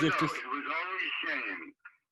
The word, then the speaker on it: Shayne: It was always Shayne, pronounced Shayne.